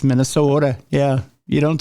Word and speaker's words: Minnesota: the curling happens um it's actually pronounced with a d yes it is yes yeah Minnesota it's Minnesota yeah you don't say